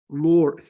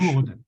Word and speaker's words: Lourdes: Lord. Am I pronouncing it right? Not Lord. Lord. How do you pronounce? Who knows French? Lourdes. Lourdes. Oh, Lourdes.